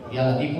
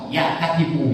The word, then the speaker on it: Ya Latif: lemah lembut ya latifu ya latifu jangan Awas ya katipu ya katipu Banyak orang yang ketipu sekarang betul enggak betul Tapi bacanya Ya laifu lam to ya Fa Ya latifu ya latifu bukan ja barang bukanu ja tipu jadi yang benar adalah I tipu Apa itu